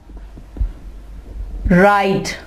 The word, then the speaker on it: write: इसकी एग्जाम्पल है राइट, WRITE, W के बाद क्या आ रहा है, R। हमने इसको राइट नहीं कहा, हमने यहाँ पे W की आवाज नहीं निकालनी, राइट।